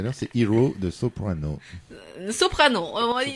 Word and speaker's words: Soprano: Soprano. C'est un français donc tu peux le prononcer à la française.